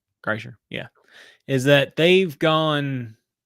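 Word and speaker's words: Kreischer: and and Bert kryer Cher kryer yeah you said it right kryer yeah is that they've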